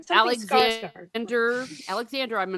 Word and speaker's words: Skarsgård: Something Skarsgård. Alexander. I'm not afraid to say that, but his last name starts with an Skarsg. It's pronounced Skarsgård. What he said. Right. Yeah, the D is silent.